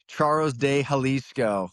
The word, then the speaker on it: Charros de Jalisco: And I will let Aaron pronounce his Mexican league team name now. Yeah, it's the Charros de Jalisco.